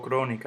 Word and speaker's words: crónica: Digo crónica, yo no digo crónica ni crónica. Lleva su tilde. Todas llevan su tilde. ¿Por qué? Porque la antepenúltima sílaba, donde cae el golpe de voz, es esdrújula.